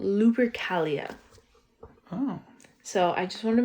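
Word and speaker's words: Lupercalia: this is an ancient Roman fertility festival called luri Calia oh so I just wanted to make sure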